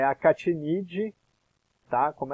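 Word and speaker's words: Achatinidae: A família é a Catinidae, tá? Como é latim, tem algumas peculiaridades aí na forma de pronunciar. O CH fica como K, como se fosse som de K.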